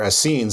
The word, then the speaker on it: Essenes: Yeah, but my source for the Essenes, or Asseens as they're properly pronounced, but when it is